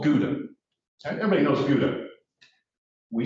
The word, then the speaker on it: Gouda: Holland, and it's called Gouda. Everybody knows Gouda. We say Gouda. They do not. They spell it the same way, Gouda. We say Gouda. They say something like Gouda.